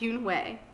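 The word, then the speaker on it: Unhei: no yoon wei corrected it's spelled u-n-e-h-e-i it's pronounced yoon way oh you hey the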